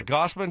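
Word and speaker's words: Gausman: Gossman. Kevin. Yeah. Gosman.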